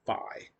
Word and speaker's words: Fi: But how do we pronounce that? It looks like it could be Fee, but no, it's actually Phi.